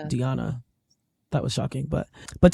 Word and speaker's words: Diana: Diana Schneider who just found out it's not pronounced Diana it's pronounced Diana that was shocking but but talson also made